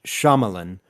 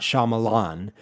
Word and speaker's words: Shyamalan: start with the shamalan episode which FYI it's pronounced shamalan not Shyamalan everyone has been saying it wrong for 20